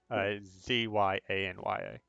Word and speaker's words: Xania: Her name is pronounced Zanya or Zanya? Xania. Oh, I didn't put them in there. Xania is the lizard folk woman, and then Yeah. Sinajit's the trader. Yeah, Xania. Zyanya. Got it.